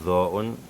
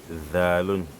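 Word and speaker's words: ظ: la langue sur Zo'un, quand vous ne gonflez pas avec la bouche sur Zo'un, lors de la lecture, si on met Fatha, vous allez prononcer Zo'un plutôt comme Zalun, ce qui est une erreur.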